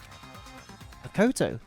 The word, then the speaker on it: Makoto: Rather, the fault Makato. lies with you guys. All right, I was waiting for you, Makoto. You Makoto. finally arrived. That's how you say it. Makoto.